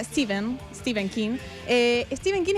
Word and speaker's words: Stephen: Estamos hablando de Peter, el libro de Stephen King, que en realidad se pronuncia Steven.